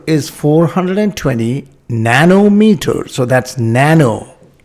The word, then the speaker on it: nano: Nano rhymes with 9.